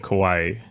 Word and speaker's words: Kawhi: So Popovich and Kawhi. Popovich and Kawhi. Popovich is the coach. Because Kawhi is like an island. Kawhi. Right, Hawaii.